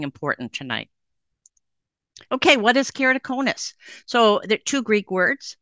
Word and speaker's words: keratoconus: I can't pronounce it so here it is it's carrot o cone us very easy if you break it down there you go you've learned something important tonight okay what is keratoconus so there two Greek